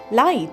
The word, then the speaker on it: light: The next word we have is light spelled as l i g ht. When we pronounce it, we get l i ht.